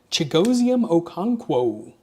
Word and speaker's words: Chigoziem Okonkwo: Debo, Amon-Ra, Quinn, Trey Harris on the Elevate, Jonathan Taylor, Chigoziem Okonkwo, just in case you were curious on how to pronounce that.